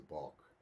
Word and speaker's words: bulk: to tell you a Bach it's spelled b a WK but it's the same word as BK it's a bulk and it's an unplowed